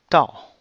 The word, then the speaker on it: 到: So the whole thing is pronounced as 到. That means to arrive, to get to. Why 到? Because this word is actually from this word, which means 刀.